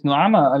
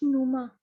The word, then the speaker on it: Noama: Sir, it's Numa. Numa, how it is Numa? Why you are written Noama? No, sir, that A is not supposed to be pronounced. but it is supposed to be written.